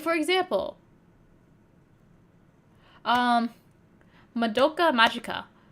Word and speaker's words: Madoka: But anytime you watch like a English like video essay about the show, they always say Madoka instead of Madoka. And it just drives me insane.